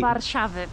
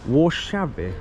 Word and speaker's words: Warszawy: Warszawy. Warszawy.